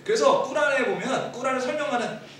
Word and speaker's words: 꾸란: 보통 그 사람들 진짜 발음은 꾸란이더라고요. 꾸란. 꾸란이라고 하는데 꾸란의 내용이 결국 이제 그 뭐 이슬람의 성인.